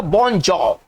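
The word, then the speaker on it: bonjour: ये इसको क्या पढ़ेंगे इसका उच्चारण करेंगे बॉन्जर बॉन्जर है ना इसको पढ़ेंगे बॉन्जर ये इंटर्जेक्शन है इंटर्जेक्शन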